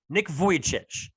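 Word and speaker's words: Nick Vujicic: to pronounce his name it's kind of like the word voyage nick vojcich it's tough right i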